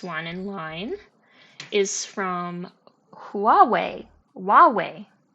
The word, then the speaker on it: Huawei: in line is from Huawei Huawei I'm tempted to say I don't know if the H is pronounced h u a we i h Huawei Huawei um